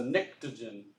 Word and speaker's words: pnictogen: That's one of those silent P words. So it's a pnictogen. Okay, but it's got a P in the front just to mess with you.